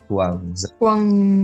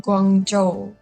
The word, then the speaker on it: Guangzhou: Is it like Guangzhou? Guangzhou. Guangzhou. Okay, so that's the pronunciation, yeah, because I'm not good at Mandarin.